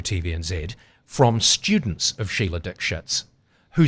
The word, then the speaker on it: Dikshit: And it's like, from what I understand, that was the way you pronounced it. That was her name. Dikshit. Yeah. You were told to pronounce it differently. Yeah. You went with the real name. The official pronunciation was Dikshit.